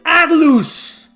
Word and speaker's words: Atlus: interested pull an atlus you mean not Atlas oh it's because Atlas everybody pronounce it Atlas Atlas Atlas why can't you say atlus why is it Atlas Atlas Atlas it's atlus what these game is